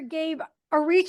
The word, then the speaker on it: Gabe Ariciu: name is Chen my guest today is Dr Gabe aru am I pronouncing that right you got it yay welcome